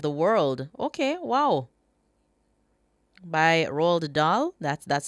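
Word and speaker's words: Roald Dahl: By Rald Dah. That's that's how you pronounce that.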